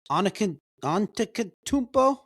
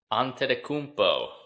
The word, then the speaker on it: Antetokounmpo: Giannis Antetokounmpo. Oh, Did I pronounce that correctly? Did I pronounce it correctly? Off to a good start. You pronounce it. Antetokounmpo.